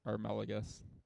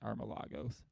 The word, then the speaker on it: Armelagus: on the live stream, we'll say it's Armelagus, not Armelagos. That's probably the most common mispronunciation. Not that I care. Been dealing with it for 40 years. But it is Armelagus.